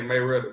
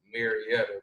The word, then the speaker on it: Marietta: As we say Marietta, so but the correct way to say it is Marietta.